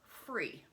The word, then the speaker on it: frie: And it's spelled F-R-I-E, free. The English word free is F-R-E-E, and the German word for free is F-R-E-I. So I think that this means the free, but I'm not sure what Danske is.